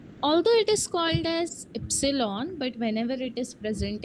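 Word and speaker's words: Ypsilon: pronounced S एक्स इ letter Y is called as एप्सलॉन बट व्हनेवर इट is present in a German word you only pronounce the first letter that is य it gives the sound of य और Y example yoga and later Z is called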